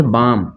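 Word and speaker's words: balmy: ठीक है उसी तरह इसको पढ़ेंगे बामी इसको क्या पढ़ेंगे बामी एल साइलेंट हो जाएगा ठीक है ना तो पढ़ेंगे बामी ठीक है इसको बलमी नहीं पढ़ेंगे इसको ब्लेम नहीं पढ़ेंगे इसको दी बम नहीं पढ़ेंगे ठीक है ना इसको क्या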